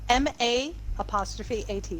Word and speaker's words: Maat: How do you spell that? Justice. M-A''AT.